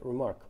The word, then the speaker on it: RMRK: remarks and that's why the protocol is called remark rmrk pronounced remark uh what the way